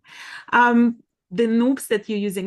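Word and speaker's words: nupps: Um, the noops that you're using, it's actually not naps, it's noops. It's No. rhymes with soup.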